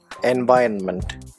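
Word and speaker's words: environment: The stress is on the second syllable, en-Viron-ment.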